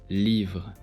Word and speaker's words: livres: Notice that this S is silent in speech. Livre, livre.